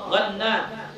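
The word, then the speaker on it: غنّام: An Abdullah bin Ghannam, dari Abdullah bin Ghannam, bil ghain al mu'jamati, dengan ghain yang bertitik, gha ya bukan a, gha, Ghannam, wan nunil musyaddadah, dan nun yang bertasydid, al bayadi as-sahabi radhiyallahu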